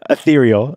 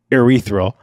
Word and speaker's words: ethereal: Okay, if you listen to last week's episode, you might have heard me mispronounce ethereal, and I said erythral, which could have roots in the word urethra.